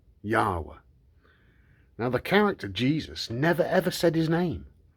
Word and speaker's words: Yahweh: And the name is pronounced Yahweh, but it's to do with your breath, the breath of life.